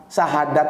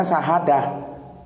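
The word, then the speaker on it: شهادة: Sahadat itu seharusnya bacanya sahadah ya, tapi karena dialeknya bergeser, sahadah menjadi saadat.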